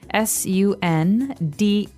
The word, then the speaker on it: sundae: So as you can see, the word is pronounced exactly like the day Sunday, but it has a different spelling in the end. S-U-N-D-A-E, sundae.